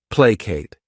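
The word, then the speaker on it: placate: next verb is plate this word has two syllables and the stress is on that first syllable plate what it means is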